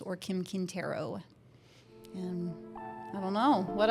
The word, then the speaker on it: Quintero: What's the proper pronunciation of your last name? Quintero.